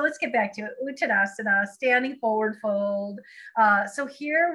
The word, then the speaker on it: Uttanasana: Okay, Uttanasana. And typically in Sanskrit, that A is silent, but I can't quite do it. Uttanasana.